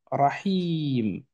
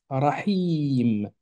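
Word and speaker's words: الرحيم: Ensuite, on a le Ha avec le son I, cette fois-ci, Rahi, mais vient juste après un ilon. Rahi. Attention, le ilon, il est comme ça quand il est à la fin. Or, là, on est d'accord qu'il est pris en étau entre le Ha et le M. Donc, logiquement, il va s'écrire comme ceci. Rahim.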